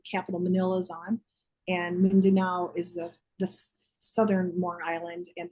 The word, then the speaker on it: Mindanao: And then last year, Philippines, Taiwan, and I do not know how to say this place, Mindanao. Oh, Mindanao.